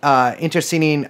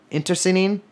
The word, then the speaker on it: internecine: I mean, there was a ton, and they engaged in both like Intercinin. I do not think I pronounced that correctly. The kind of warfare where you kill your friends too. Internecine.